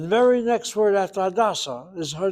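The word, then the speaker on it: Hadassah: But somehow with the name, the proper name of a person, you hit the first syllable. Hadasa. The hospital is the second.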